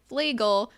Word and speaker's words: Fleagle: pronounce his last name, he said Fleagle, like the bagel.